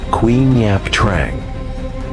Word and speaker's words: Quy Nhap Trang: Queen Yap Trang. Roughly the corpse possession demon pronounced Queen Yap Trang.